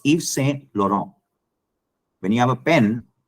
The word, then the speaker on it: Yves Saint Laurent: when you say uh there is a perfume called yvs Eve's Saint Laurent is what people call it it's Yves Saint Laurent when you have a